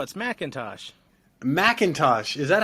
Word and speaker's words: McIntosh: Am I saying it right? No, it's McIntosh.